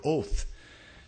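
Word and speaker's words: אות: for signs here is the Hebrew word oath and like we would say oath of course it doesn't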